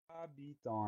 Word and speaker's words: habitant: suivant c'est le mot habitant un moquer de la famille de habiter ou deux habits donc on va retrouver le même radicale première syllabe à il va y avoir 1 h muet et a donc on